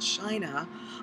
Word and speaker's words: Qin: tributes so in ancient China on the emperor Qin it's about qan but it's pronounced chin was buried with a